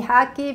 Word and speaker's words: Haky: but people call me haki because in Argentina where I grew up nobody could pronounce my name so it was simplified to Hagi and here I tell people pronounce it like the sport hockey anyways so at the